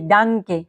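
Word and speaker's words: Danke: মতো মাথায় রাখবেন যেরকম কি উদাহরণ যদি দেখি ডাংকে হ্যাঁ ডাংকে ডিটা শুরুতে তাই কি ডাংকে তারপর কি মাঝে এইযে দেখেন হ্যা লাডেন লাডেন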